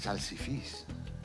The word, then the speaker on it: salsifis: – C'est « salsifis » parce qu'il y a un accent. Sur le N, le S ou une voyelle, la voyelle porte un accent.